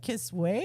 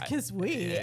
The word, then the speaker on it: Kisui: I think when it first came out, I was like Kisway. No way, it's Kisui, and then it's Kisui apparently. I but laugh at it.